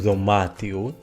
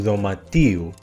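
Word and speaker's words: δωματίου: Cuidado con los que están acentuados en la antepenúltima sílaba, porque en genitivo el acento va a la penúltima. Por ejemplo, to domatio, el cuarto, la habitación, en genitivo no es tu domatiu, sino tu domatiu.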